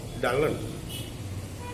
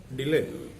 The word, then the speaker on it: Dylan: was not happy because the word was pronounced like Dullan, and the people might regard him as a dull person. And Dylan wanted his name to be pronounced as Dylan.